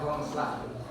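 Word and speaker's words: Grondslag: Sebagaimana ee pidato Soekarno pada tanggal 1 Juni 1945 eh Pancasila disebut sebagai filosofish gonslah ya dibacanya gongslah.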